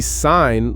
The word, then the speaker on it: sign: If you see sign like with the G, it connects it to signature or design. If you just spell it s i ne n e, you lose that that visual connection to its its related words.